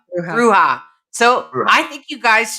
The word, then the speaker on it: bruja: you find those roots being at odds with Bruja? Did I say it right? Bruja. Bruja.